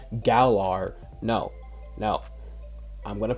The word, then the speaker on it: Galar: Let's go to the Galar region. An encounter with Scorbunny. By the way, anyone who freaking goes in the comments and say it's pronounced Galar, no.